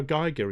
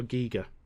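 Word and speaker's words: Giger: That HR geigger is HR Giga.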